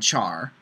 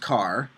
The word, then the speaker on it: char: a primitive type called Char sometimes pronounced car um I go back and forth between Char and car I really don't have a preference um you can pronounce it however you'd like Char or car um now a literal